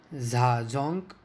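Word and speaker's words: Zajonc: explanation was given by za junk the name is pronounced to rhyme with science the arousal is because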